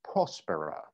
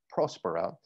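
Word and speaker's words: Próspera: mispronounced it there it's prospero the accent is at the first syllable prospero my spanish speaking friends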